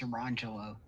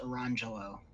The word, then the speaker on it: Orangelo: That's the wrong pronunciation. No, I'm pretty sure I heard you say orange jello. No, it's Orangelo. Nah, orange jello. It happens to be spelled here. I'll put it in the chat. I know it's spelled Orangegello, but it's pronounced Orangelo. Oh yeah, I'm sure.